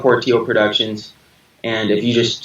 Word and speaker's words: Portillo: my name is Justin Portillo it sounds like it's spelled just as Portillo but the others are silent and I'm actually impressed